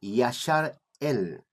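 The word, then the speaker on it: ישראל: La palabra Israel, yo siempre explico explico en mis conferencias, explico específicamente que está escrito Israel, pero no se debe decir o pronunciar Israel. Nosotros debemos pronunciar Yashar El.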